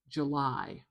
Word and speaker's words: July: The challenge with this is instead of getting this nice contour of July, of the weak strong, it does make it much more even like July July July. North American English listeners really like having a strong syllable. Like July. July. So, if you can, try to use that schwa and put the stress at the end.